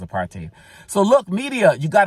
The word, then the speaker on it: apartheid: And remember, it's pronounced apartheid.